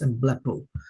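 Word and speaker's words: ἐμβλέπω: or emblepo, this could be emblepo, but it's emblepo, pronounced emblepo.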